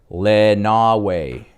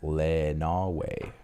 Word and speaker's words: Lenawee: That county is pronounced Lenawee. Ooh, see, I knew I was wrong. Thank you for that. Thank you. Lenawee.